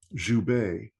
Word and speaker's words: Joubert: uh in in South Africa that's how they pronounce it and so Zu and that's zuw and uh I am thrilled that she uh